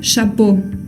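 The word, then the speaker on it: chapeau: común o por examplo la palabra chapo chapo chapo significa gorro bueno chapo no quiero escuchar chap es Chapo con una o también la a con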